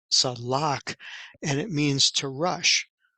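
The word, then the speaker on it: צלח: So we see the word here comes from the word, the letters are Sade, Lamed, Chet, which is pronounced Salak, and it means to rush.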